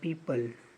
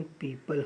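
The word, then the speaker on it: people: द पीपल लोगों को। पीपल इसका प्रोनाउंसिएशन पीपल होता है, पीपुल पीपुल नहीं होता है।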